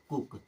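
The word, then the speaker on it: cook: की मात्रा की तरह सी डबल ओ के इसे क्या पढ़ेंगे कुक ये ऐसे वर्ड है जो केवल इसी रूल पर चलेंगे यानी कि डबल ओ आएगा तो हमेशा छोटा ऊ की मात्रा की तरह ही उच्चारण करना है केवल एक ही वर्ड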